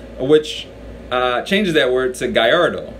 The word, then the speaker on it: Gallardo: Spanish pronunciation which means the double ELLs make a Y sound or EE sound which changes that words a Guyardo right so the correct